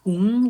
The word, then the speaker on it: Hu: The correct pronunciation will be hung with hung because it means human. Human in English, right? So hung means human in English. So han will be, kind of a different meaning.